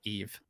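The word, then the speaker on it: Yves: Chi uh IES and Chu just it's just Eve oh EES okay uh not even with an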